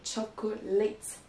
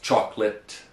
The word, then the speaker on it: chocolate: tendance à le prononcer chocolate. Is this wrong? It is. Even though the word late is at the end of the other word, chocolate, it's pronounced chocolate, not chocolate.